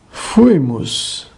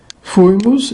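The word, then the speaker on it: fuimus: Fuimos. A penúltima sílaba i é breve. Fuimos, estávamos.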